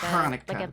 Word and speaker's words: Hanukkah: You gotta pronounce the H weirdly. At least that's what Hanukkah. Hanukkah. yeah. Yeah, like you're spitting. Yeah. Like Hanukkah.